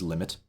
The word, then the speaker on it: lim: call uh you know we write it as lim we pronounce it as limit um below this symbol